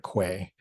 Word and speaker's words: qua: to the other marriages qua being marriages sometimes people pronounce that Latin word quay Quay being marriages in